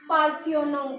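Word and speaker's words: passionnant: यूज़ करना है तो हम फ्रेंच में बोलेंगे पासियोनो। क्या बोलेंगे? पासियोनो। गाइस एक्साइटिंग को लिखना है ऐसे, ये है इसकी प्रोनाउंसिएशन, इसको हम पढ़ेंगे पासियोनो, पासियोनो।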